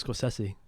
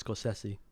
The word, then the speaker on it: Scorsese: Yeah, I think it's Scorsese. I think that's actually the correct pronunciation.